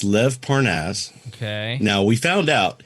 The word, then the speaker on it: Lev Parnas: Well, it's Lev Parnass. Okay. Now, we found out, here's the fun part. We found out that Lev Parnass's name is pronounced that way. Okay. Everybody had been calling him Lev Pernes, okay?